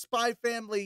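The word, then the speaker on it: Spy x Family: internet it is pronounced spy family you don't pronounce the X no one says Hunter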